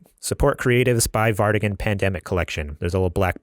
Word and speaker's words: PNDMC: just go to super gamer boys dot-com slash pandemic is how you pronounce the collection but it's spelled PN DMC